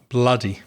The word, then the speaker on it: bloody: B L O D Y with the vowel sound uh bloody.